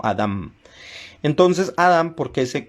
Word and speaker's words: Adam: y no con N, porque en hebreo en realidad el nombre de Adán se debe escribir con M al final, para dar una pronunciación más exacta. No es Adán, sino Adam.